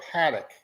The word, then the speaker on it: Patek: but anyway I am I do like pek or Paddock as you we should pronounce it but I I call